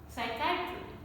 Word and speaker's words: psychiatry: Psychiatry, psychiatry. So P is silent in all these words. It is there in the spelling, but it is not there in the pronunciation.